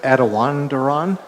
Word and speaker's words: Attawandaron: Chairman, and I guess I heard you pronounce the word Attawandaron. Yes. Is that the correct pronunciation? The best we know, Oh, the yes. best you know, okay.